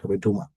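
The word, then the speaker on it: Dumas: দিকে ইয়াটা উচ্চারণ ুমাস এস এর উচ্চারণ হবে না ডুমা এ পর্যন্ত থেমে যাবে আচ্ছা এখান থেকে আমরা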